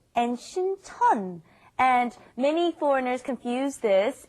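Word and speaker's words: 신천: One is Sincheon, one is Sinchon. Yes. The one by Yonsei University is Sinchon, and the one by Jamsil down south, that is Sincheon.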